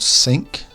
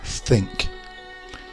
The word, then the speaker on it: think: tongue between your teeth it's not sink or a think it's think think a thought thank the